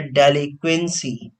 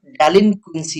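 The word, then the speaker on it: delinquency: आगे आते हैं, वर्ड है डेलिक्वेंसी। पहली बात तो डेलिक्वेंसी नहीं होता, डेलिनक्वेंसी होता है।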